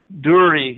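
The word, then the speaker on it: דור: Hebrew word dur dwr durri is the pronunciation which is defined as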